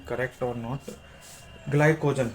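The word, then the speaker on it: glycogen: और जब हम एक्स्ट्रा कार्ब खाते हैं और उनको बर्न नहीं करते हैं, तो वो ग्लाइजोन ग्लाइजोन इफ आई am pronouncing correct और नॉट, ग्लाइकोजन, हाँ ग्लाइकोजन होता है।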